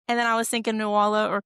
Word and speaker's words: Nuala: the pet names, and then I was thinking Nuala or Cerridwen, that's how you pronounce them.